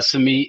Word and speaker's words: Samit: character and Summit I think yeah the correct pronunciation why don't you tell us that it's neat yeah so uh some meat is a young man who grew up in